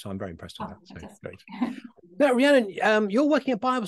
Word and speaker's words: Rhiannon: but today I'm being joined by Rhiannon Rihanna and I hope I pronounced your name correctly yeah yeah you have